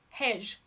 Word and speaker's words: hej: You do say the J. Okay. Hedge. Or hedge. Hedge.